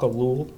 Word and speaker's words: Ellul: And so I highlighted some thinkers that I like to read, like Jacques Ellul. He's a media theorist and philosopher. Say the name again. Jacques Ellul.